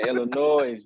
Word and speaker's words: Illinois: been gone that long you know that s is silent man illinois man in the noise no it's all good